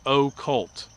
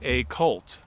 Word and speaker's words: occult: And I say it very clearly. I say occult. So people still will say a cult and not even recognize that they're mispronouncing the word.